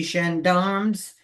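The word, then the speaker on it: gendarmes: So that when I saw the wallet on the idea on the street to the Xandarmms, is that how you pronounce it?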